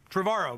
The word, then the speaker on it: Trevorrow: Hello, Trevorrow, but it's okay. Oh, rhymes with tomorrow.